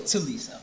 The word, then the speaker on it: Thuliso: My IG is actually my name, so it's THU.LISO. Very simple. And it's two, not Thu, it's two. Teliso. It's like Teliso, because I said Thuliso.